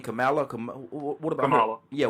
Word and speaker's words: Kamala: What about Kamala? How you say her name? Kamala?